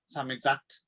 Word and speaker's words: Samizdat: I mean, they were, you know, the censors did come down, and you could only some, how do you pronounce that word? Samizdat.